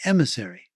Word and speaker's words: MSRI: and he said well if you pronounce the letters rather quickly and with the french accent msri it sounds like emissary so let's call it